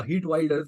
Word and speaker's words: Geert Wilders: उसके बाद हम जाएंगे हर्ट वाइल्डर्स या हीट वाइल्डर्स जैसा इनका प्रोनाउंसिएशन रहता है इस पर।